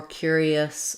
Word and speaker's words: curious: curious and curiosity so this is an example where letter U says two sounds it has the ya sound and again some people will say curious um with more of an ooh for the U I use an er er for the U cure ER so I would spell it